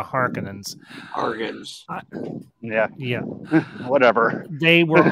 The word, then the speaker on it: Harkonnen: are they as they i always pronounce are conan's but as they as they call them the harkonnens yeah yeah whatever they